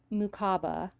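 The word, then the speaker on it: Mukuba: So the Eagles picked Andrew, I think it's pronounced Mukaba, from the safety out of Texas.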